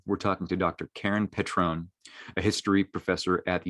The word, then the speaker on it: Petrone: And did I get your pronunciation right, Petrone? Yeah, Petrone.